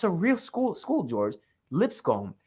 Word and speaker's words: Lipscomb: real school school George Lipscomb it sounds just like lips come and he plays for that school and they yeah Lipscomb University that's how it's